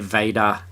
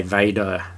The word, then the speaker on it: Vada: But Vada, when we say Vader, adding an R. That's right. Yeah. It's threw in an R. Where did that come from? Came wandering in, put it to the end.